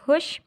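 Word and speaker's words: خوش: हे पेश वाव दाल, हे पेश दाल खुद, हे पेश वाव शीन, इसको हम कैसे पढ़ेंगे बच्चों, इसको वाव हम बीच में नहीं पढ़ेंगे तो इसको ऐसे पढ़ेंगे हुश, ठीक है, हुश।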